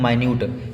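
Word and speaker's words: minute: हैं, सबसे पहला है, इसको मिनट मत पढ़ना, ये लिखा है माइन्यूट, स्पेलिंग सेम है लेकिन प्रोनाउंसिएशन यहाँ पे अलग है।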